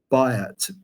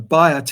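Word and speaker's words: Byatt: recently A A Modern English writer called as bot she died not long ago bot is spelled b y a t t bot as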